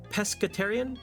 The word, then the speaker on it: pescetarian: actively choose to pescetariate hard C pescetarian oh my bad pasquerade